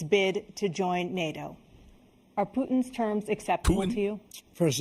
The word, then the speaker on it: Putin: I love the way Americans say Putin, by the way. I say Putin, as in Putin, whereas you guys go Putin.